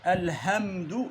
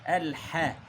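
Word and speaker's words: الحمد: Elhamdu yanlış. Elhe çünkü ha harfi bu. He. Eğer he okusaydık o zaman Kur'an-ı Kerim'den bir harfi atladık.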